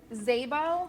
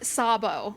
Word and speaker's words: Szabo: Zaybo. Got to put the hands Yep, there you go. We don't pronounce the S, so it's a hard Z.